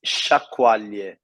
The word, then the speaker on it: sciacquaglie: of earrings, but I'm going to let you pronounce. His particular name, a dialectical name. So the name is sciacquaglie.